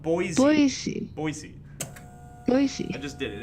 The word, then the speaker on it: Boise: have been like whoa sorry for getting your name wrong for half a year boys yeah i'm still not gonna say that word online or i'll keep saying it wrong boise boy boy not boys boise noisy i just did it anyways boy i